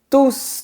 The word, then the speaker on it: tous: Dans cette phrase, le mot "tous" est un pronom qui se réfère au sujet (mes amis) qui se trouve avant, donc on doit prononcer la lettre "S" du mot "tous". Par contre, dans la phrase : Tous mes amis viennent demain. On ne prononce pas la lettre "S" parce que le groupe nominal (mes amis) se trouve après.